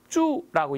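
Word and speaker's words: 祝: 중국어로 쭈라고 읽어준 이 단어는요.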